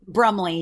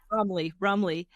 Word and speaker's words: Brumley: Am I pronouncing that right? Brumley, yeah. Brumley.